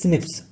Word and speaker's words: SNP: nucleotide polymorphism so firstly it is pronounced as sniffs just like a repeating